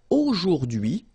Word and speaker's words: aujourd'hui: So the first one, A-U-O, jour, and then d'hui, okay? H is not pronounced, so you only get this d'hui thing.